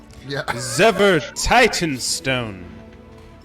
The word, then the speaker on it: Zever Titanstone: your name again my name is zever you spell that for zever titanstone z-e-v-e-r titan stone one word one word and